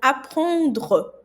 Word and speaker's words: apprendre: E o E, no final da palavra, por exemplo, apprendre, ele é mudo. Então, apprendre. Você vai terminar no R, apprendre, ok?